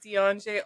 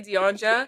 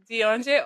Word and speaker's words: Deon-Já: my friend and Grenadian Deon-Já. And I just want to preface this by saying I mispronounce Deon-J's name all the time. So if you hear me say Deon-Ja and she corrects me, just let her correct